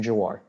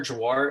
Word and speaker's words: Jhawar: Jawar. Thank you. For the judge's reference, that's Senator Jawar. It's spelled Jhawar.